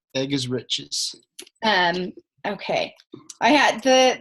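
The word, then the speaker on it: Eggerichs: and the author is Emerson egar spelled like egg e g g r i c HS so that that's in the recording egg is riches um okay I had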